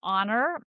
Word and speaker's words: honor: So we have words like a hour and we have words like honor and if you look at how they're spelled there's an h but if we look at how they're pronounced there's no h and that's because historically